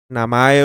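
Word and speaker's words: 名前: namae o simplemente na el kanji de nombre se puede pronunciar namae O sea si tú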